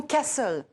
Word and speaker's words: castle: Par exemple, le mot « castle » en anglais, château. Castle. On place l'accent tonique sur le début du mot.